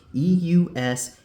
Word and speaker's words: Eustace: Okay, that's not how you pronounce Eustace. It's pronounced Eustace.